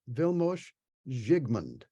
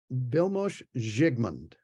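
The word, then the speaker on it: Vilmos Zsigmond: responsible for photography is I'll pronounce this in true Hungarian vilmosh jigmund and is a good mom vilmos zigmond yeah there's an echo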